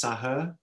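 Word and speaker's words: Saher: I think it's Sahar, spelled S-A-H-E-R, Sahar, and then Sidhom, S-I-D-H-O-M, Sahar Sidhom, and Brian Miller.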